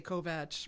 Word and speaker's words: Kovach: I said it wrong already. You said it the way they say it in Hungary. Right. We're in the United States, so I say Kovach.